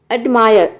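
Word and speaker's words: admire: एडमायर, एडमायर means होता है प्रशंसा करना। कई स्टूडेंट इसको प्रोनाउंस करते हैं एडमायर, ये एडमायर नहीं होता है, ये होता है एडमायर।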